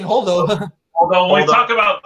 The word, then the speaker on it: Holdo: That's her name, Holdo.